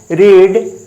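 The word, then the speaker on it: read: होता है I have रीड यहां पर रीड नहीं है यहां पर देखो भाई रीड जो पढ़ना है रीड रीड का तीनों फॉर्म का स्पेलिंग एक ही जैसा है लेकिन उच्चारण अलग है रीड भा वन में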